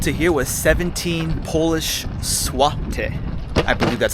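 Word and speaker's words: złoty: That ticket price from the airport to here was 17 Polish zloty. I believe that's how you pronounce it, zloty.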